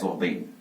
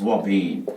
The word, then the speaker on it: ouabain: Is pronounced as Ouabain. It is Ouabain.